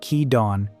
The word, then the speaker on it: Kidon: is the story of Kidon, pronounced Kee-dawn, the bayonet at the very tip of the spear.